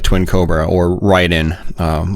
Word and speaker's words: Raiden: I like to go back and play stuff like Twin Cobra or Raiden, or Raiden, as some people might pronounce it in North America.